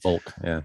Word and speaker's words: Volk: And then the other is the one that's derived from the V word in German that's pronounced the same way. Volk, which is a people